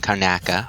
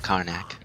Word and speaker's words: Karnaca: because in Dishonored 2 it takes place in Karnaca, not Karnak. I pronounced that wrong in the previous video, but Karnaca in Serkonos, or Serkonos.